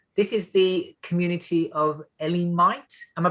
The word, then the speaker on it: Elliminyt: this morning um this is the community of ellen might am i pronouncing that right kerry eliminate eliminate fantastic that sounds something that sounds like kryptonite